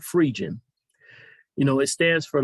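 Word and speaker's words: Phrygian: frigin cap frigin cap i used to call it virgin cap my brother corrected me and let me know i was pronouncing it wrong but free jin you know it stands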